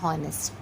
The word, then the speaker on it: honest: So H is silent here, O is a vowel, so we are using the vowel sound.